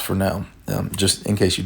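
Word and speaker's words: Fresnel: and if you were wondering that's called a Fel not a fresnal even though it's spelled that way it's pronounced Fel um just in case you didn't know we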